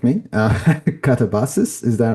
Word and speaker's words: katabasis: correctly do correct me katabas. Is that right? Is that how you is that how you pronounce it? Yeah, katavasis in Greek, katabases in English, you know, because I'm